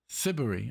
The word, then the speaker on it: Siberry: Look, I do like this little, not how you spell, how you pronounce it. And there is a little, let's see. Jane Siberry. Siberry, okay.